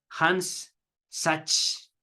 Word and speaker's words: Hans Sachs: principales discípulos de Freud, Hans Sachs. Voy a también leer otra forma de pronunciar este nombre, Hans Sachs. Sachs.